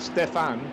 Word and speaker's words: Stefan: So maybe in that we could be forgiven for deciding it was pronounced Stephanie, but Stefan, so it's spelled like Stefan, but we just decided it had an E. It doesn't anymore.